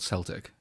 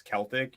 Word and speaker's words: Celtic: Scottish football team called Celtic I think what it is is if you refer to the people it's Celtic if you refer to it as like an organization it's Celtic I think that's like